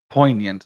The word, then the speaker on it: poignant: This is how you would spell it phonetically. Oh my god. Girl, just tell me how to say it. Poant. Okay. Poignant.